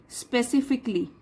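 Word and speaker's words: specifically: तो देखिए यहाँ पे जो CALLY आता है, तो उसमें हम C के बाद जो A है उसको हम प्रोनाउंस नहीं करते, हम ऐसे बोलेंगे स्पेसिफिकली, ठीक है।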